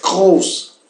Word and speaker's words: groß: Primeiro, a R se pronuncia fazendo garras, né? Groß. Segundo, o O é uma O alargada, grande, né? E terceiro, essa letra rara, né? O Z, né? Em realidade é uma S dobrada, né? Corresponde a um duplo S, sem mais importância.